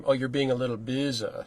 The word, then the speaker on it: Boese: And it's pronounced Boese. Boese. But I'm sensing that's in your native German, right? Yeah, it's not how you would say it. No, it's some very Americanized German. Okay. Mangled, some might say, but it would be pronounced Boese.